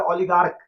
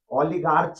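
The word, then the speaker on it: oligarch: उसके बाद है ओलिगार्क। ओलिगार्च नहीं ओलिगार्क।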